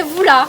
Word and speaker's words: Voula: Mais le A en malgache, on ne le prononce pas. Hein? On dit boule. Voula. Boule. Voule. Et on avale le A.